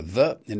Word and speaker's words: thin: How do these words differ from those with a voiceless th at the beginning? Thin. Think. Thought. Thaw and thief.